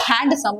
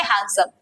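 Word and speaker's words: handsome: कुछ हथ नहीं बाबा इट्स नॉट हैंडसम यहां पे हैंड का डी जो है वो साइलेंट है म्यूट है तो इसे हम क्या बोलेंगे हैंडसम सो ये क्या बोलती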